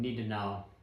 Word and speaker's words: Nittenauer: I think Bavarians pronounce T's with a slight D, so I'm going to go with Nittenauer.